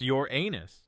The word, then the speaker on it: Uranus: be vaporized instantly Uranus yes it's pronounced your anus get it out of